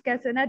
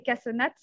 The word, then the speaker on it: cassonade: Et néanmoins, je valide des réponses cassonade et cassonate, parce que c'est comme ça qu'on le prononce, et c'est comme ça qu'on l'appelle en Haute-France.